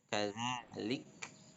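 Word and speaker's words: كذلك: Nah, huruf kaf yang disukunkan atau bertanda sukun, maka ya, hamas ya. Hamas itu ketika itu huruf itu diucapkan maka terdengar keluar nafas ya. Kadzalik, lik ya. Qala kadzalik saja dan tidak sampai ke qalqalah ya.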